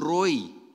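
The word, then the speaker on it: רֹעִי: that Roy we have this is Roy r-o-e-i that's how it is pronounced is very interesting this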